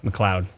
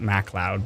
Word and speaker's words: McLeod: McLeod. That's right. Not MacLeod, but McLeod.